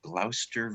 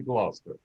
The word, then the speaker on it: Gloucester: 7900 Daffodil Lane in Gloucester, Virginia. Good, you pronounced it correctly. Yeah, I knew that. It was like Worcestershire. Dr. Foster went to Gloucester.